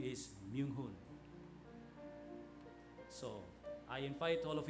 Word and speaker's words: Myoung Ho: So it should be connected, yeah, Myoung Hoon. The family name is, and then the name is Myoung Hoon.